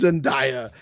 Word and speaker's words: Zendaya: I love that we're so in our 40s that one of our co-hosts could be like, "Oh, that's pronounces her name wrong. That's Zendaya."